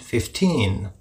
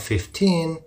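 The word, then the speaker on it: fifteen: difference between 50 and 15. especially as the final end of 15 is likely pronounced and hard to hear well the difference is in the stress and the short and long e for example 50 the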